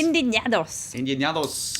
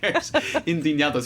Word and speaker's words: Indignados: Indignados. You've got to get the guttural Spanish sound.